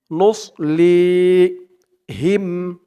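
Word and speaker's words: نُصْلِيهِمْ: যাবে বলতে হবে নুস মুখটা একটু ভরপুর হয়ে যাবে এমন মনে হবে সদের উচ্চারণটা করার সময় নুস লি লি এক আলিফ টান জের পরে ইয়া সাকিন নুসলি হিম হা দিয়ে মিম ধরবে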